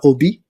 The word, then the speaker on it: Obey: So talking of pronunciation uh your name is pronounced Tatiana Obi, right? So yes, correct